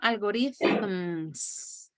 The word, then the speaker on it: algorithms: do you pronounce algorithm algorithms algorithms well the th that sound from thank you you know algorithms okay thanks welcome very